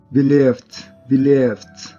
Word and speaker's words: believed: Este verbo es creer y su sonido termina en F. Believe. Entonces en su pasado tendríamos que pronunciar con una T. Believed.